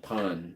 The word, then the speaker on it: pain: can buy the pain they pronounce it Pon but I say go to